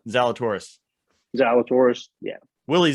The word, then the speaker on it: Zalatoris: Zalatoris.